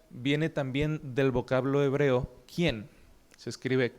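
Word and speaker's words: khen: ¿Quién? se escribe k h e n quién.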